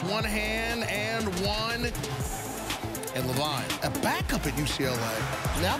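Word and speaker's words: LaVine: It's Levine, but you should spell it differently, okay?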